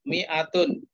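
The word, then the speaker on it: مائة: 100 mi'atun. Tulisannya memang mimnya itu panjang tapi bacanya tetap pendek saja. Mi'atun, bukan mi'atun.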